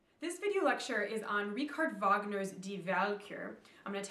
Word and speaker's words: Richard Wagner: okay but it's not richard wagner nobody says that they pronounce it their way the germans would which is richard wagner the w sounds like a v in german so if you say